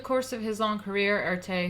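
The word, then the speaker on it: Erté: of his own career art a who's adopted name derived from the French pronunciation of his initials RT o created over 250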